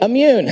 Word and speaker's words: Immune: It's really easy. Don't read it, just listen to me. Immune, okay, that's how you say it. You've heard the word before, it just looks a little funny.